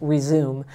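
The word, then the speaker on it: Rezoom: in that program called resume and it sounds like resume like get back to it it's spelled r-e-z-o-o-m and there's even a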